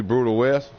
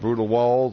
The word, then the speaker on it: BrutalWes: Add me, Brutal West, BRUTALWES. It ain't pronounced Brutal Walls or Brutal S or Walls or nothing like that.